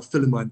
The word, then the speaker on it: Philemon: And then the other four in the New Testament, Jude, second and third John, and Philemon, or Philemon, as some people pronounce it.